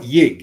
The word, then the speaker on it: Yig: How you pronounce that? Y and G? Yig. I call it Yig. Yig. Yeah, Yig.